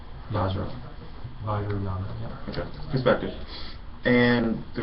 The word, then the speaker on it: Vajrayana: How do you pronounce it? Vajrayana. Vajra. Vajrayana, yeah.